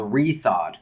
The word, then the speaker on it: Rethawed: And then the second one, the game that I'm in, is called Rethawed. So it's spelled R-E and then Thawed, like THAWED.